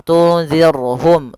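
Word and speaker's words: تُنْذِرْهُمْ: dengan ra tarqiq, ra yang tipis dalam pelafalannya, jangan dibaca tunzir. Maaf, tunzirhum, tunzirhum. Ini tebal ra-nya. Harusnya tipis. Tunzir ar ya, kalau ar itu tebal, ir tipis. Tunzirhum.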